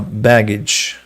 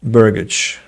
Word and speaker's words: burgage: the in their dictionary what excuse me uh baggage burgage burgage says Oxford but Cambridge refuses to elaborate just